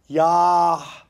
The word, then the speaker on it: Yahusha: And then it's like Yahusha is the actual Hebrew pronunciation of the name.